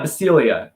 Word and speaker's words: Bisciglia: Yeah, Basilia. It's the G is useless.